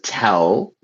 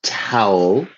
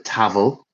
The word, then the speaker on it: towel: So, yes, this is a towel. A towel rhymes with owl. Towel. I've heard some people call it a tavl.